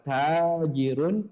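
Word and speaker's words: تاجر: Kalau kata tajirun itu yang panjang adalah taknya. Taknya panjang. Tajirun. Karena ini yang panjang adalah jimnya, maka kita bacanya tujarun.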